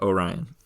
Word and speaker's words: Orion: oh Orion o yeah Orion is how you say that I had to look